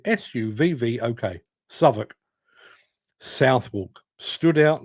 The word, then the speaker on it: Southwark: If you're posh, you pronounce it Southwark, but if you're from London, particularly the bit that I'm from, you pronounce it Suvvok, Southwark.